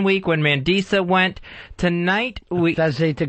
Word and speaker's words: Mandisa: In the final 12, I've only been off 1 week when Mandisa went. Tonight, I hate to correct you, but again, mispronunciation. Her name is Mandingo. Mandingo. It's Mandisa.